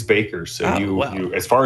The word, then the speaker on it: Bakker: So, I always called it Backer, but after listening to interviews, it is Baker.